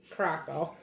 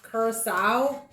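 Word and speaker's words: curaçao: one ounce blue croc croco and i know that's not how you say it paracel no it's like current curacao two ounces of vodka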